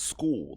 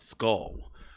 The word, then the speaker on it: Scull: It's pronounced School, not Skull.